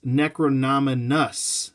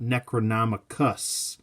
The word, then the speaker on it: Necronus: the name wrong but it's necronus not necronom is what I was saying necronom I think in my head for some reason I just thought it was necronom I just I just